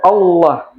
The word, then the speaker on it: Allah: Seandainya ini hurufnya adalah fathah, maka tebal baca lamnya ballah. Seperti kalimat Allah. Nah, kalimat Allah itu sebelumnya ada fat fathah. Makanya tebal dia Allah.